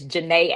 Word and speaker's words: Jannae: And then of course on Instagram, my name is Jannae Speak. It's spelled like Janet, so think about Janet Jackson.